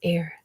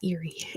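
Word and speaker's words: Éire: good job to Dr the answer is air air not Eerie like the lake era um number nine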